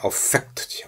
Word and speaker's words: affect: 명사가 되면 affect입니다. 동사가 되면 affect지. affect. 동사가 되면 affect면 영향을 미치다는데 명사가 되어서 발음을 affect라고 하면 감동, 정서 그런 뜻입니다.